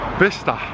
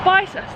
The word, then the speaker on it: Bicester: We've already got a name wrong. It's apparently, what? Bicester. Bicester, and we've been calling it Bicester.